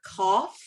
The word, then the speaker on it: cough: last two letters of the word cough that gh make f sound you look at the